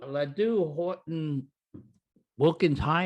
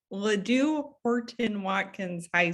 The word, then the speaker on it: Ladue Horton Watkins High: now you went to Ladue Horton Wilkins High. Is that how it's said? Watkins High, Ladue Horton Watkins High School.